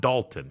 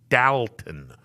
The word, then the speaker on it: Dalton: Ohio it would be spelled like you would say Dalton but it's not Dalton it is dalon people uh from that